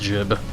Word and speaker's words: gib: I think that's how you're supposed to pronounce it. Gib. It's basically the word for like when you shoot a bad guy so hard they explode in, you know, chunks like that. I usually say gib. I like to think that's how you're supposed to pronounce it, but most people will also say it's pronounced jib. Like gib, G-I-B.